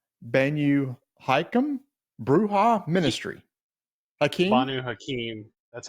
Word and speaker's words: Banu Hakim: Banu Hakim. That's how you pronounce it.